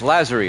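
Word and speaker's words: Lazzeri: It's Lazzari, I believe it's pronounced.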